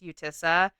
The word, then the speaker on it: Utica: I've heard it pronounced Utissa. Udica. There was different videos pronounced it differently. I'm going to use Udica because that's how I have it pronounced in here. But if I'm wrong, sorry about your luck.